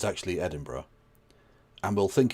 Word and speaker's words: Edinburgh: of them will not know that it's actually Edinburgh and will think it's Glasgow and pronounce it Glascow and those people get immediately sent to the Goolag. But if they do know it's Edinburgh and pronounce it Edinburgh, they they're fine.